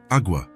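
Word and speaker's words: agua: Awa, Elena replied. It's pronounced awa with a very soft g e.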